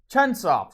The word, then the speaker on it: Chunsoft: The dude uh went on to make his own company uh Chunsoft. And I'm pretty sure that's how it's pronounced. Yeah, it is. Chunsoft, sorry.